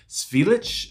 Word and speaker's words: Zwielicht: releasing their newest album titled svilich I believe that's how it's pronounced or in English it